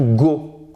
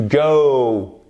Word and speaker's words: go: Ce n'est pas to go, ok? C'est to go, aller. Vous avez une diphtongue. Oh, c'est comme dans hello, c'est pas hello, c'est hello.